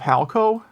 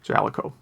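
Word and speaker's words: Jaleco: i guess it does note that in some games they do pronounce it at the boot screen and it is pronounced uh jaliko i don't know why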